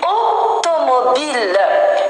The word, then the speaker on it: automobile: Une automobile. Une automobile. Et vous remarquez bien, le O, c'est pas un O ouvert. Automobile. Pas automobile. Par contre, le O ici, regardez. Automobile. Ici, c'est fermé.